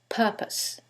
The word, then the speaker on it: purpose: syllable that's stressed and in the second one is the first syllable and that changes the pronunciation completely the first word is propose and the second word is purpose so what is the